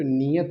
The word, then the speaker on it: नियति: तो ये समझो नियत है वो, एक ये नियत, नी का अधिकतर बोल देते हैं तुम्हारी नियत कैसी है, नियत, ठीक है, नियति है, तो ये ध्यान रखना।